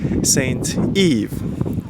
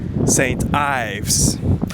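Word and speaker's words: St Ives: should be pronounced like Saint Eve. And he said, no, it has to be pronounced like Saint Eves. And none of us was right, because actually it is pronounced as Saint Ives.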